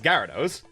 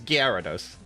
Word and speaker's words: Gyarados: It's like, for me, it's Gyarados. Gyarados. Yeah, I know. But I know it's Gyarados. I've always known as Gyarados, but it's Gyarados.